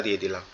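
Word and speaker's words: ض: আমাদের জিহ্বার গোড়া অর্থাৎ আমাদের জিহ্বার একবারে ভিতরের অংশটা ডান পাশের মাড়ির সঙ্গে লাগবে।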